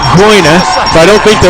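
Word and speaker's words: Gruene: Green. Green is correct. Green is correct. Ice Gang. This is another one of those which is incorrect. It's a German word, and you should be saying that Groine.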